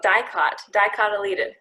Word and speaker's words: dicotyledon: Dicotyledon is how you say that.